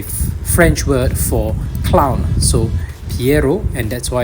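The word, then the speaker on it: Pierrot: And its origin of that name is spelled P-I-E, but it's not Pi, right? It's actually Piero. So it's a French word for clown. So Piero, and that's why it's called Piemon.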